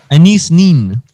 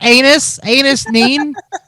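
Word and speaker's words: Anaïs Nin: Anais Nin. Okay. I was pronouncing it wrong in my head, so I was wondering. He was like, it's anus neen.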